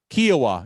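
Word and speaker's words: Kiawah Island: How do you say it, by the way? Kiowa? Kiowa. Yeah, I knew I was saying it right.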